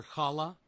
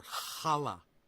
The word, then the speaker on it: challah: my ass recipe for kala okay let's try this again recipe for chala you literally you have to say it like that or here are some